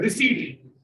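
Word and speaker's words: receipt: Pocket money में कुछ कमाते नहीं है, रिसीट, रिसीट just P silent होता है, रिसीट कॉन्सेप्ट।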